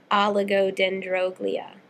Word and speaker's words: oligodendroglia: pronunciation words that people struggle with a lot oligodendroglia is how you pronounce it aligo means few or scanty um